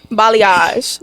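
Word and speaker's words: balayage: I don't like that b what b b balage okay yes balage so yeah okay that'd be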